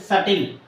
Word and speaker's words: subtle: is silent here next subtle so s u b t l e SLE so in this word the b letter is silent next d out d